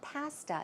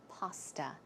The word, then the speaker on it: pasta: I think, yeah, most people pronounce it correctly. It's not pasta, it's pasta. It's a lemon cream pasta with some sautéed broccoli and chicken.